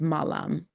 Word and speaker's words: malam: So we're looking at the 3 to 5:00 pm and then once it's sunset to evening it's malam sal malam and that's m a l a m and malam could mean good evening and good night.